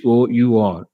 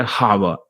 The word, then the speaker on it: hour: sentences for example here you see uh h o u r our but many people say hawa h is known it is wrong our uh is still